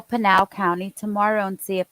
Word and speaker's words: Pinal: He's in Pinal? Yeah. I was pronouncing it wrong. I said penal.